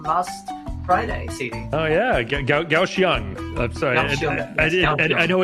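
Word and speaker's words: Kaohsiung: Gausang. I'm sorry. I I know it doesn't it doesn't look like how it's pronounced, but yes, it's Gausang is how you pronounce that's where we're flying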